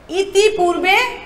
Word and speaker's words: ইতঃপূর্বে: রস্বই ত বিসর্গ পয় দীর্ঘ বয়রের একার, কিন্তু এটা শুদ্ধ উচ্চারণ হবে ইতঃপূর্বে, কারণ বিসর্গর পরে যে বর্ণ থাকে সেটিকে দ্বিত্ব উচ্চারণ করতে হয়।